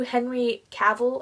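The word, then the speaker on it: Henry Cavill: lose yourself in it she makes references to Henry caval I think that's how you pronounce it the actor who plays Superman and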